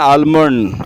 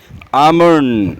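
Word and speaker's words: almond: उसके बाद आपका आता है बादाम को बहुत से कहते हैं आलमंड। आलमंड इज़ a wrong pronunciation. यह होता है आलमंड। आमंड।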